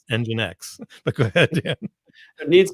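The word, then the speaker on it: nginx: somewhere i'll tell you this is not called jinx engine x but go ahead there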